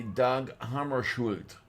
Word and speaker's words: Dag Hammarskjöld: The way Wikipedia is telling me to say it would be Doug Hammarskjöld.